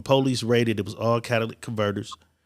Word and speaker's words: catalytic converter: don't know what a Cadillac converter I always call it the Cadillac converter but it's a cattle how do you pronounce what's the real saying of the park catalytic converter people are stealing these